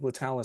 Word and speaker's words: Letallis: we're like, okay, like Latalis sounds cool. And technically the way that we spell it is actually I added an extra L in there. Mhm.